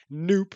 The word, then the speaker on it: noop: And a common way to do something like this is to use noop, as I like to pronounce it, which is short for no op or no operation, don't do anything.